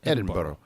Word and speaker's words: Edinburgh: which is spelled Edinburgh. Yeah. But it's pronounced Edinburgh.